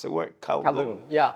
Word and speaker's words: Kowloon: a place called, please tell me if I pronounce the word, Kowloon. Yeah. Kowloon.